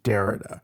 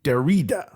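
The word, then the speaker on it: Derrida: okay okay there are two two ways to pronounce this name there is what the angelized world says which is Dara which is absolutely cool I've heard him introduced as Dara it's absolutely fine this is jacqu Dara famous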